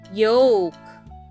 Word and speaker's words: yolk: Yoke. Y O L K. Let's spell that again.